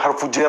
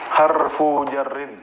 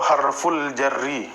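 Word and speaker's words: حرف جر: belum tahu tulisan ya cuma dengar-dengar aja harfu jer harfu jer gitu. Nah, ini tulisan yang benarnya harfu jarrin ya kan. Heeh. Seperti itu. Atau harful jarri bisa juga ya.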